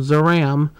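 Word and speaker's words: Zeiram: accident um interesting note when they promoted this in TV guides they took the eye out and just called a zaram in fact that's how they say it in the film zaram instead of xerim um the anime and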